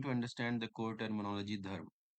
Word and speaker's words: Dharm: Om Bhavadbhya Dharma Dhwaj Rakshakebhyo Namaha. Hello friends. In this video we are going to understand the core terminology dharma. Many people pronounce this term as dharma, which is incorrect.